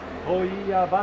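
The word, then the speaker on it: 問屋場: と書いて問屋場って言いますけれども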